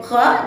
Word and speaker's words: خ: Ingat, huruf kha tidak boleh dilafazkan dengan kha, khi, khu. Akan tetapi di situ terdapat pangkal lidah yang naik ke atas langit-langit sehingga menghasilkan suara yang tebal.